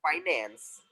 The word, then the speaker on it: finance: It is not Yes, sir. finance. According to Americans, they say it finance.